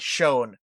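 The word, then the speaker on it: Schoen: carter you're a bomber guy how do i pronounce this guy's name dalton shone and shone all right yeah so dalton shone is a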